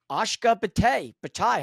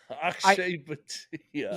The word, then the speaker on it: Akshay Bhatia: Ashka Bhatia, however you say his name. Akshay Bhatia. Yeah, Akshay Bhatia.